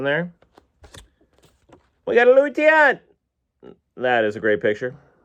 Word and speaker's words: Tiant: We got a Louis Tiant.